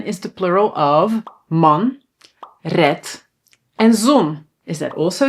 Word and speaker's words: red: So, red we pronounce with a t, but we write a d.